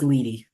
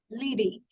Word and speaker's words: Leedy: Sure, it's pronounced Leedy. Leedy.